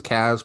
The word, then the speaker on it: Cas: new faces so welcome my name is Kaz pronounced Cas spell c a s